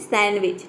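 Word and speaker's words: sandwich: ये हो गया सैंडविच जी डी जो लेटर है ये साइलेंट है यहां पे डी का ड का साउंड डी को हम ड प्रोनाउंस करते हैं ड का साउंड नहीं आता है सैंडविच नहीं बोलते इसको बोलते हैं सैंडविच ठीक है सैंडविच डी को हम ड नहीं बोलेंगे ड का साउंड नहीं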